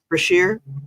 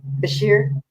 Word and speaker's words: Beshear: Beshear. Beshear.